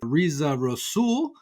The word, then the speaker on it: Reza Rassool: the future driven podcast I am here with RZA rosul qu RZA thanks so much for coming on the show and did I pronounce it correctly yes you did Adam thanks